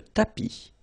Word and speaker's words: tapis: Remember final S not pronounced. Le tapis, le canapé, la bibliothèque.